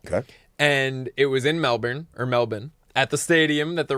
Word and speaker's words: Melbourne: I have learned that the locals in Melbourne, Australia pronounce it as such. Melbourne, not Melbourne.